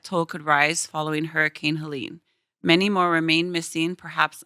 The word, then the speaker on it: Helene: The pronunciation, I was like, is it Helene or Helen or Yeah. Then we went on TikTok Helene. and we found out it was Helene.